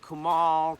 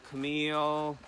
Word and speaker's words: Kumail: curveballs in there so Camille is probably the more difficult name to say yeah because people will said kemal Camille it's like you've got Camille exactly did you work